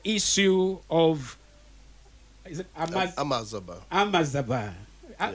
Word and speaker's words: Amajaaba: Amazaba. Yeah. How do you pronounce that J? That is J. Amazaba. I think the spelling is AMAJAABA. Yeah.